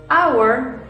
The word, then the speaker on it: hour: español hospital Okay pero hay palabras que también se escriben con h y suenan como una vocal como estas Our or honor la J que estábamos viendo con hospital eh history ya aquí no la vemos entonces suena como una vocal a pesar de que se escribe con h también entonces qué es lo